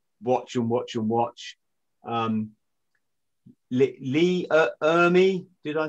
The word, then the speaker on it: Ermey: Lee Ermey, did I say his name right?